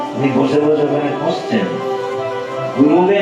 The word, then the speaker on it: গুরবে: এইখানে যে প্রশ্নটি আসে, আমরা বলি গুরুকে বলি গুরু ব্রহ্মা, গুরু বিষ্ণু, গুরুদেব মহেশ্বর, গুরু সাক্ষাৎ পরব্রহ্ম, তস্मै শ্রী গুরবে নমঃ। উচ্চারণটা কিন্তু গুরবে নমঃ, গুরুবে না, গুরুবে বলে ভুল হয়ে যাবে ব্যাকরণের।